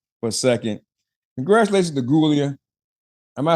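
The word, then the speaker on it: Giulia: Congratulations to Gulia. Am I saying it right? Gulia, right? Yeah, Gulia.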